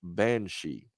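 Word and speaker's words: bean sidhe: i never connected it but it is actually pronounced banshee now i would love to have him on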